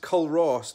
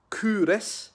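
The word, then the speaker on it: Culross: the kingdom of faith and said it's not pronounced kollross like I was saying like in Edinburgh lad than I am in faith people call it Kunis I don't really know why they call it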